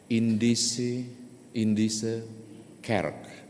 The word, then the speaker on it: Indische Kerk: Bapak Ibu pasti pernah mendengar Indische Kerk. Gitu ya cara pengucapannya bahasa Belanda soalnya.